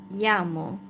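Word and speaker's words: llamo: It looks like L. It's 2 L actually, but it's not pronounced as L. It's like Y. uh like in the word yamo cold like I am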